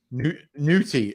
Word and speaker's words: Ncuti: Ncuti, right? That's why I called him Nutty, because when you see it written, it's spelled N-U-N-C-U-T-I or whatever it is.